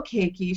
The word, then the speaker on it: Caiikie: you who don't know keiki she spells her name c a i i k i e at first i thought it was hawaiian but it's not pronounced that way so tell us how